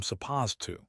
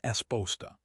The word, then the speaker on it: supposed to: Same with supposed to. We don't say I am supposed to. We say I'm esposta.